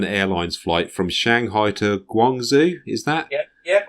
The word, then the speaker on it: Guangzhou: the China Southern Airlines flight from Shanghai to Guangzhou, is that? Yeah, Guangzhou.